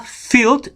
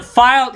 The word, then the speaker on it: filled: Sebenarnya pronunciation yang benarnya adalah filled with cookies. Not filed, ya. Coba perhatikan dalam pronunciation-nya, kalau dia file itu L-nya 1. Itu file. Tapi kalau L-nya 2, maka dia bukan filed, tapi menjadi filled.